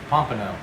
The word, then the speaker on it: pompano: How do you pronounce it, dear? Pompano.